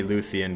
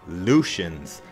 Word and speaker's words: Lucian: with myself of course a lot of people call me Lucien but my name is actually pronounced Lucian's sword anyway it's moving